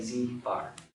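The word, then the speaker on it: z̄: it's pronounced z and there's a bar above it so they say z bar that's what they call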